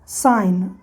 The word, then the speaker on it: sign: इन सारे वर्ड में G और N एक साथ है, GN एक साथ है। देखिए GN एक साथ है, GN एक साथ है, GN एक साथ है, GN एक साथ है, ठीक। तो ये याद रखना है कि जब किसी वर्ड में या वर्ड के शुरू में GN हो, ठीक है, क्या कहा मैंने?